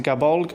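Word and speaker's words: Gáe Bulg: I know it's pronounced Gabolg or Gabolg to be more pronounced, but I like the pronunciation of how I pronounce it. Golly Bolg a little bit better.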